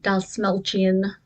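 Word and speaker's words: Dastmalchian: I like David Dalsmelchian.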